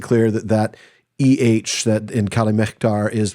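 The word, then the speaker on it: Calimehtar: that EH that in Calamectar is pronounced like the German CH in Buch and other words like that.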